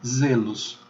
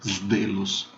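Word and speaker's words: zelus: O fato é que ela é pronunciada z de zebra. Por isso, quando você encontra a palavra zelo, você vai ler em latim zelos e não zelos ou zdelos.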